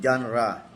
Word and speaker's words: genre: Yung genra g e n r e. Ang pronunciation genra. O parang genre pero genra ayan isa-isahin natin yan sa susunod ano pangalawa pong hakbang digging out the history.